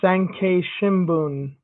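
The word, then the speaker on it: 産経新聞: Boxer Sankei Shimbun, I believe that is how that's pronounced.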